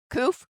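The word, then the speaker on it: קוף: Koof.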